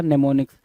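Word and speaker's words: mnemonics: पढ़ोगे क्या अच्छा लिखोगे मनेमोनिक्स मनेमोनिक्स लिखोगे लेकिन पढ़ोगे क्या नेमो निक्स तो इस चीज को जरा ध्यान देना ठीक है एम साइलेंट हो जाता है तो नेमो निक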